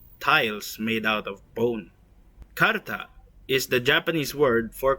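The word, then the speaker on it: かるた: the same as the kanji of the word Karta. The kanji characters each literally mean bone and tile respectively, and together suggest the meaning of tiles made out of bone. Karta is the Japanese word for cards and is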